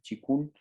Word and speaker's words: qigong: Y el chikun, que se escribe qigong, pero se dice chikun, que se desprende del tai chi y es como la versión terapéutica del tai chi.